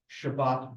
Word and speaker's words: Shabbat: So what he's talking about is Ashkenazi versus Sephardi dialect, and a good example is Shabbat versus Shabbos.